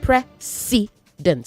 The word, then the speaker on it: precedent: A precedent pronounced precedent.